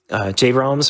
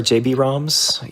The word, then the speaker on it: JBroms: Yeah, your runners today are going to be JBroms or JBroms. Either pronunciation's okay. We've got Party Man X.